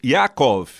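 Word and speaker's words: יעקב: enganador não é isso o termo yakov é assim que se pronuncia em hebraico vem da palavra lakov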